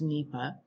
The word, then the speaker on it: NEPA: environmental statute that was enacted by congress it's pronounced nepa and it is the cornerstone of environmental analysis